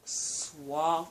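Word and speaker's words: SAWFT: Christian, Big Cass, one half of the tag team of Swaff. I think it's Soft. It's Soft. It's not S-O-F-T. It's S-A-W-F-T. I thought it was S-W-A-F-T, Swaft, because they used to say it like Swaff.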